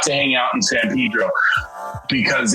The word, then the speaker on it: San Pedro: call it Cabrillo uh should be San Pedro but yeah we call it Zan Pedro well I know in